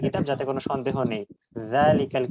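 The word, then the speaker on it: ذَٰلِكَ: যাতে কোন সন্দেহ নেই জালিকাল কিতাব এটা জাল দিয়ে হবে একটু পাতলা এবং নরম উচ্চারণ আর উলাইকাহুমুন এটা উচ্চারণটা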